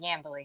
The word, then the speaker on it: Yambeli: Yambeli, like yam and belly, Yambeli.